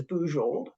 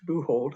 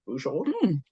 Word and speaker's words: Bujold: all the surname is bold B UJ o l d it's pronounced with the French J not the Spanish buold I can always tell